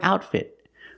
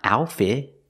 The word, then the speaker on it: outfit: outfit today too and with the word outfit both T's are stop T's it it's not outfit it's outfit the t's are not silent we pronounce them I like her outfit